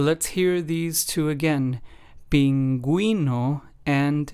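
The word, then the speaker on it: pingüino: again pinguino and bilingu so as we can hear the U with the two dots diasis accent mark in Spanish helps us give that gu or gu sound and pronunciation in words in pinguino it would be the GUI sound and then in bilingu it would be the GU sound the last of the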